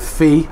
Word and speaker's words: Phi: And you might know, if you watched the last video, that the first superyacht, which was SuperYacht Fee, I believe you pronounce it, PHI, was arrested in Canary Wharf in London.